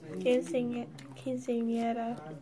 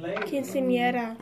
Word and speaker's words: Quinceañera: Pronounce it for me again. Quinceañera. Louder, so I can hear you. Quinceañera.